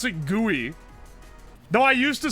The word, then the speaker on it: GUI: way skill issue pronounce pronunciation of guey you pronounce it gooey though I used to say GUI and I didn't realize that people pronounced it